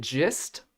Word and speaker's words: gist: survey audience is it gist or gist I think it's just like a j because it's like the understanding that what's the gist of it but GitHub and has a hard G so uh how do